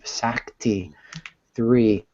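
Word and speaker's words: Sakti3: pronounce that sa3 yeah s a k TI it's not often you see the K before the T sack T three um which um Sir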